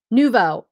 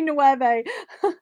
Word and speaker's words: nouveau: i say it right no i said it wrong nouveau i always want to say nueve nuvo vintage art nouveau